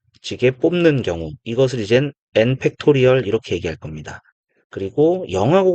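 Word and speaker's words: n!: 느낌표라고 읽지 않고 n 팩토리얼 요렇게 읽겠습니다.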